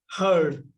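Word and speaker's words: heard: তাইলে এইচ ই এ আর ডি হারড। হেয়ার। এর past form কি? হারড। উচ্চারণটা হচ্ছে হারড। বানানটা দেখলে মনে হবে উচ্চারণটা হবে হিয়ারড। কিন্তু হিয়ারড না। উচ্চারণটা হবে কি? হার্ড।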